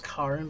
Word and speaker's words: Karen: is Karin, but it's spelled Karen.